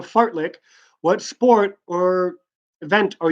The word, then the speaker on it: fartlek: the activity called a fart lick what are you doing so what activity are you gonna be participating in if you are doing a fartlek yes I'm pronouncing that correctly fartlek what sport or activity